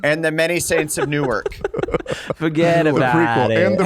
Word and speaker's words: Newark: and the Many Saints of Newark.